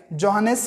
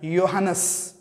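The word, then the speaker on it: Johannes: जोहानस Kepler, जोहानस पढ़ते हैं हम उसको, जे का मतलब हम जोहानस भी बोल सकते हैं, या फिर उसका प्रोनाउंसिएशन ऐसे भी होता है योहानस, मतलब जे साइलेंट रखते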